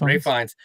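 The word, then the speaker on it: Ralph Fiennes: Ray Fines.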